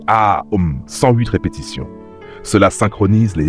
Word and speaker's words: Om: Mantra 1 OM proncé AOM 108 répétitions.